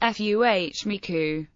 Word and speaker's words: FMECA: When combined with criticality analysis, FMEA is known as failure mode effects, and criticality analysis or FMECA, pronounced FUHMICU.